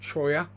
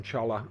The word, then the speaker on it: cholla: I think they're pronounced cholla, but we always call them cholla.